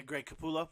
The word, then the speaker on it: Capullo: Yeah, Greg Capullo. Yeah. Capullo's Batman stuff is fantastic.